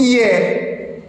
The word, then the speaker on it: hier: En une seule syllabe, vous avez le mot par exemple hier. Hier, on peut le prononcer en une seule syllab en sinérèse en syérèse comme on peut le prononcer en deux syllabes en diérèse hier.